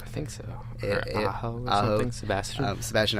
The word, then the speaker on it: Aho: Aho or something? Sebastian Aho, yeah.